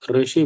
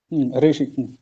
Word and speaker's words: ऋषि: जैसे शुक्ल यजुर्वेद में देखेंगे तो वहां बोलते हैं कि ऋ के उच्चारण में हल्का सा ए के जैसा उच्चारण करो। जैसे ऋषि है तो ऋषि बोलते हैं, ऋषि। हल्का सा ए जैसा।